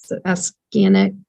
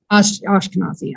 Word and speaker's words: Ashkenazi: you, and I never can say it right, Afghanic Jewish. If you didn't have that line, it couldn't tell me if I had the breast cancer gene. Oh, Ashkenazi? Ashkenazi.